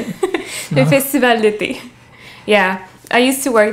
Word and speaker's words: Festival d'été: The Festival d'été.